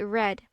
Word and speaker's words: read: for that to continue if we make read into past participle it will be red the spelling is the same but the pronunciation is different please take note of